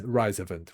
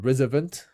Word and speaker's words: RISOVENT: So when I say rise event is rise rise rise event rise rise to invent um but I understand some people they call it resvent because if it's revent it's r to invent